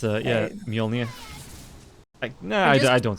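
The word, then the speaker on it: Mjölnir: I should be saying Mjolnir. It's, yeah, Mjolnir.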